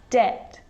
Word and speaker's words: debt: crumb and the letter b is often silent when it's before the consonant t so think of these